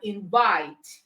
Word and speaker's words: invite: So you have arrive, okay, you have invite, you have decide. All right, so these words are stressed on the second syllable.